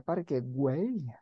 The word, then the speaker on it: Parque Güell: Esto sería bonito escuchar cómo se pronuncia Parque Güell.